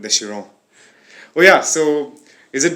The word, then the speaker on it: Chiron: No, it's called Chiron. Okay, Chiron. Yeah, a lot of people pronounce it wrong with like Chiron or like Chiron. No, it's called the Chiron.